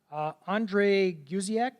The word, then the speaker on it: Andre Guziak: So our panel, Andre Guziak, did I pronounce it right?